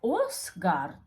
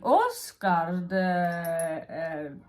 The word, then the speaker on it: Åsgard: And he lives in a place called Åsgard. And Åsgard, Ås meaning like a big hill.